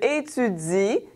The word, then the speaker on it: étudies: Tu étudies, so the ES is silent, OK?